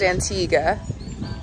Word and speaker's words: Antigua: morning from antigua antigua it's pronounced antigua um slept very well